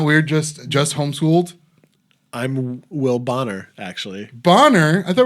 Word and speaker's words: Bonner: So it's Bonner and Will I'm still Boner. an immature. Yeah. Will Boner would be my porn name. No, Bonner. It's Bonner. There's two N's. And I always since kindergarten, it's been mispronounced, and it doesn't faze me at all anymore.